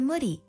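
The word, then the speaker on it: Mudi: quite vulnerable number five Moody pronounced moody this Hungarian born breed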